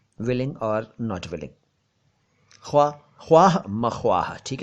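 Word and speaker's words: ख़्वाह-मख़्वाह: खाम खां या खामा खां नहीं है, यह है ख्वाह मख्वाह, ख्वाह मख्वाह।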